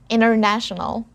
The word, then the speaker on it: international: in the present international international remember to put the stress on this syllable na international i would like